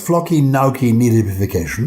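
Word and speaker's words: floccinaucinihilipilification: It's flocky nauki nihilification. That's how you say it.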